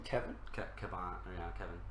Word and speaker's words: Kevan: So the relationship between Kevin and Lancel, i.e.